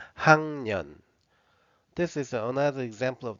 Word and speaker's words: 학년: 학년, 학년. This is another example of the difference between the spelling and the pronunciation.